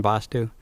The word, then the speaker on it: Vastu: There are actually two Vastus that are one Vastu. Vastu pronounced with a A is pronounced quickly and spelled V with one A, S-T-U, and Vastu pronounced with the longer time held for the A and spelled V-A-A-S-T-U.